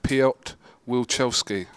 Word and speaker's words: Wilczewski: I'm going to try and pronounce his name here. Piotr Wilczewski.